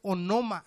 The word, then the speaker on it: onoma: Y la palabra es onoma, así se escribe, O-N-O-M-A, onoma.